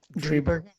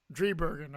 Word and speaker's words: Driebergen: Driebergen. Driebergen.